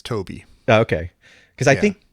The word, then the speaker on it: Tobe: And I think, is it Tobe or Toby? Is it Toby? Is it pronounced Toby? I had to look it up finally because I've always never known, and it's Toby.